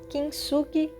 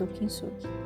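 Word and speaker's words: 金継ぎ: I can't speak Japanese, but Kintsugi I think that's how it is pronounced and that's what I'm drawing here.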